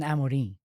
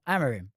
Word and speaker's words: Amorim: How do we say his name? Ruben Amarin. That's how you say it. But put the English twist to it. Just Amarimuben. Ruben. Amarim.